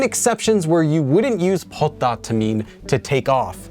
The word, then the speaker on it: 벗다: Now this is pronounced as 벗다 due to sound change rules, and this one can be used for almost everything.